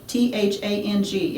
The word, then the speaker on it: thang: And it really is spelled T-H-A-N-G. It's thang. Yeah, it's not just my accent.